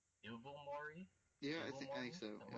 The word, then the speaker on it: Ilvermorny: No, you said evil. You said it like with a V before the L. Evil. No. Okay, I'm sorry. Ilvermorny.